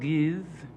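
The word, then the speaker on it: Ge'ez: It's called Giz. That's spelled G-E', E-Z, Giz.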